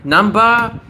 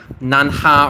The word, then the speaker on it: Namba: Namba, it's hard to write, right? You might even mispronounce it as like nanha or nan, right?